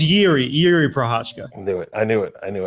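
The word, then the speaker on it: Jiří Procházka: single name on there what about hiri prasa that was close it's yi yi prashka I knew it I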